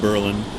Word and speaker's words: Berlin: capital of Prussia but the emphasis has always been on the first syllable instead of the second the story goes that